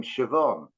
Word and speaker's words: Siobhan: take the woman's name Siobhan. Well, it's a B and an H together that's pronounced like a V, and I never sort